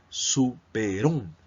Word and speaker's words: superhombre: contexto no es funcional la palabra superhombre no lo vamos a separar súper hombre sino como pronunciamos superón super hombre y ahí